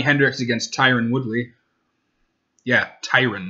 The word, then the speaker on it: Tyron: against tyron woodley yeah Tyrann not Tyrone tyrant it kind of pisses me off and people can't pronounce his name not anybody me know people are correct no problem it's when you're watching like fs1 and they're like tyron woodley you're like no his name is titrated there's no II after